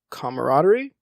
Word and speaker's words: camaraderie: know that kind of camaraderie camaraderie you said it right the first time dammit you're good and having